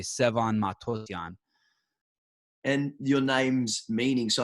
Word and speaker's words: Matossian: if you if you're there's two ways to pronounce it if you're not armenian you say matosian if you're armenian you say matosian and so if you're